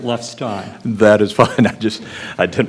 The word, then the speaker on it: Lefstein: Professor, and I want to be sure I pronounce it, is it Lefstein or Lefstein? I've heard both. So. I have no authority for it, but I always pronounce it Lefstein.